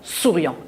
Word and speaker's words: souriant: ma cousine et souriant j'ai le s là souriant est ce le début de l es au début d'un mot se prononce ce pas de souci